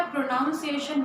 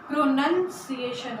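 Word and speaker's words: pronunciation: ध्यान रखिएगा, प्रोनाउंसिएशन नहीं होता, प्रोनंसिएशन होता है।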